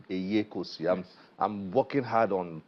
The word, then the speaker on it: Eyekosi: Did I pronounce your name well? Eyekosi. Eyekosi.